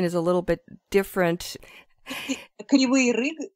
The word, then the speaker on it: Kryvyi Rih: Kryvyi Rih, it's in Ukrainian, and right. In Russian it's Kryvyi Rih.